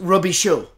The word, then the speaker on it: Robicheaux: In South Louisiana, we spell that last name Robicheaux, and we pronounce it Robichaud.